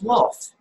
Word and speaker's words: Wolf: It's like a V. You know, you would say wolf. You know, Uh-huh. it's a V. Wolf. Because we Wolf. pronounced the V like a W. Right. Yes. Yes. Wolf. Or the W like a V.